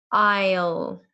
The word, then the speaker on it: aisle: look at the word aisle aisle okay aisle the S is silent we don't say s we say aisle aisle